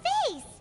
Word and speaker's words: vase: and here's a broken vase huh did the trolley knock it down while moving it's pronounced vas what is this vas you're talking about this vas L literally this is